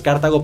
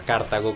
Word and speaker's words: Cartago: alberto grillé que bueno que no se pronuncia a cartago como estoy diciendo perdón se me olvido sino cartago que la producción correcta es cartago es verdad toda la